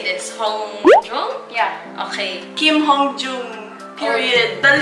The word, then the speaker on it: Hongjoong: Hongjoong?